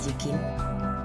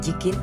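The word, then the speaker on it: I Ching: Por otro lado, en Asia, el Yikin, creo que se llama Yikin, se escribe I-Ching, ¿vale?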